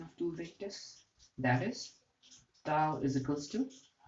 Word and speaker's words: tau: a Greek letter for T and it is pronounced as tau tau tau so tau vector which is a torque vector